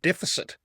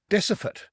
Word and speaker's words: deficit: For a start, I noticed that probably one of the worst words she mispronounces is the word deficit, which is obviously a key banking term. She says decifit, and she says it consistently.